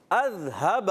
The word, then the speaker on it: اذهب: اس کو درست تلفظ سے سیکھنا ہے. کیا؟ اذهب. اذهب حمزہ کی ادائیگی اذهب، اذهب ذال کی ادائیگی